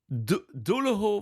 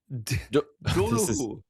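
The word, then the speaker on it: Doolough: Dulo Valley. Duloo.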